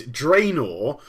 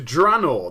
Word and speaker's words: Draenor: actual title uh now I initially started to call the place dror and then I early on made a decision to change to Drano the reason why I